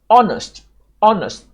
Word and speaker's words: honest: Honest, the H is silent.